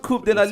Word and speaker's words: Coupe de la Ligue: Coupe de la Ligue. Yeah, and they're still in the running for Coupe de la Ligue, right? Why are you smiling, CK? It's pronounced Coupe de la Ligue.